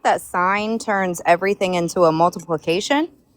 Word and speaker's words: sine: No, in mathematics it's not s y n it's s i n e in mathematics but it's pronounced s i n sign but like it's like shortened to s i n.